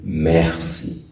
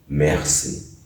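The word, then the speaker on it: merci: thank you thank you in french you say mercy mercy mercy you know that in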